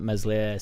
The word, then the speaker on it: Meslier: loads of pelters for saying that Meslier silent s is not the worst keeper in world.